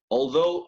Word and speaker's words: although: Although, aunque, pero lo pronunciaríamos así, ¿no? Si se escribiese en español sería algo así. Perdón. Although. Algo así, ¿no? Although. Noten la GH del final completamente muda.